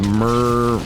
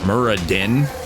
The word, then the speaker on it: Muradin: pretty sure he's from Wow his name is merr Muradin yeah there we go I can pronounce it dwarfed things I love to work